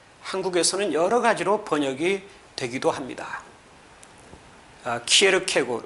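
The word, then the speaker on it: Søren Kierkegaard: 그러나 9 후에 에 덴마크 인 덴마크 사람인 친구에게 이것을 정확하게 발음을 해 달라고 요청을 한 적이 있습니다 그랬더니 친구가 사은 취해 캐고 라고 어 읽어 주었습니다 이것을 녹음을 해서 번갈아 아 몇 번씩 들었습니다 쌍 취해 캐고 이렇게 표현하는 것이 가장 원은 에 가깝다고 할 수 있겠습니다 아 저는 몇 년전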